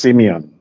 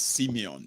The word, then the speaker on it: Simeon: them let's go to Simon sir uh you're there yes can you hear me can you hear me loud and clear please Perfect uh my name is pronounced Simeon oh it's Simeon okay nice one yes